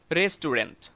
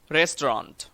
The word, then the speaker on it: restaurant: Example 9, এটাও সব সময় আমরা বলে থাকি রেস্টুরেন্ট, কিন্তু এটা ভুল উচ্চারণ। সঠিক উচ্চারণ হবে restaurant.